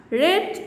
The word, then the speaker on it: read: see that read is the present form but red is the past from but here the spellings